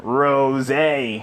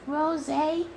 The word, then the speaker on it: Rosé: Why do they call it Rosé? Because the name is spelled R-O-S-E. That spells rose. Yeah, I know, but it was originally named after this idiot named Goku Black. He actually named it Rosé.